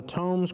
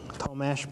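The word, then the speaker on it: Tomeš: There's also something called the Thomes criteria. Tomesh probably is how you say it.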